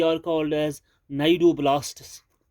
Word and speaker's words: cnidoblasts: They are called as नाइडोब्लास्ट्स. सी इसका silent है यहाँ, CNIDOBLASTS, नाइडोब्लास्ट्स हैविंग, इन सेल्स के पास एक टॉक्सिन होता है, हैविंग टॉक्सिन, उस टॉक्सिन का नाम है निमेटोसिस्ट.